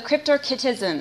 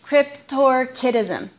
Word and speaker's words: cryptorchism: for you to know the cryptorchism I think I said it wrong Cryptor kism there we go and this just literally